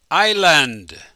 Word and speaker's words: island: I raise the card can you pronounce it Island the S is silent there are three islands